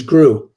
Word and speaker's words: Gru: movies with the minions right his name was gru and uh that's the way you pronounce it she's she's probably the one i